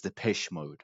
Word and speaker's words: Depeche Mode: I always butcher the pronunciation. I was like Depeche Mode, but it's Depeche Mode. That's the proper pronunciation.